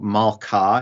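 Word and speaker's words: מלכה: I don't know if if you think about the pronunciation in Hebrew, Malkah is the word for queen. And then if it was going to be in construct, it'd be Malkat. So you'd hear like Malkat Shemayim or whatever.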